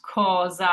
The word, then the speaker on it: cosa: Same thing goes for the word cosa. So we have our singular S here, sandwiched by an O and an A, which are both vowels. So it's pronounced cosa, that Z sound.